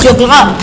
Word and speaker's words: Choclot: Allá, francesa, entonces decimos Choclot. Choclot. Choclot, tenemos que decir. No se pronuncia la última, Choclot.